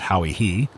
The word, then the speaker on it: Hawaii: This is imperfect, but as we afterward actually discovered an island called by its inhabitants Chui, or rather as they pronounce it Hawi-Hi, I cannot think the information useless, but highly fortunate, as will be remarked hereafter.